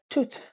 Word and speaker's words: tout: Now you might ask, okay, so why are you saying tout est possible when you just said that it's pronounced tout?